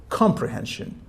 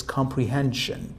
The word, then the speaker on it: comprehension: For example, when you say comprehension, for an example, you shouldn't say comprehension or comprehension. It's comprehension, comprehension.